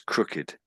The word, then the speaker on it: crooked: So if I take the ed off that's crook without the ed. If I put the ed back on again it's crooked.